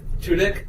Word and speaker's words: Tudyk: Tudyk? Tudyk. It's fun. Dick. All right. As he said.